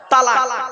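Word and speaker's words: طلاق: তালাক। বাবা, শব্দটা তালাক নয়, শুনে নিন আজকে। তালাক শব্দটা নয়, শব্দটা কি? তলাক। কি বললাম? তলাক।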